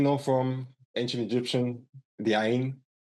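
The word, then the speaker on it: عين: It's a tricky one, but it's actually quite easy. Like it's you know, if you like trying to brush your teeth and then you put some water in your mouth and do like and then spit it out. Like you have some water here in the back, but you don't let it slide in, like gurgling a little bit. That's almost the same.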